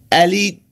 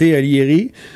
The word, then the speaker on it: Alighieri: Alors, lui, il s'appelle Alighieri. Je sais pas si je prononce le G dans ce cas-ci parce qu'il y a un I avant.